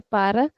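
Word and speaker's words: para: I mean the native speakers mostly say pra okay so when you will hear the natives they'll not say par they'll say pra but as of now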